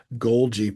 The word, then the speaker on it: Golgi: Could be called Golgi Packaging Inc. But anyway, that's how I remember Golgi has a soft G and package also does.